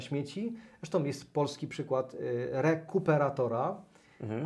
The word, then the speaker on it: Rekuperator: Zresztą jest polski przykład rekuperatora. Mhm. Akcent co to jest? No właśnie, akcent na kupę, niestety, to świadomie położyłem, więc zachęcamy Was do sprawdzenia, czym jest rekuperator.